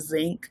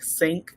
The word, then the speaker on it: zinc: time i see or hear the word zinc i think sync because that's how your mama pronounces saying a whole lot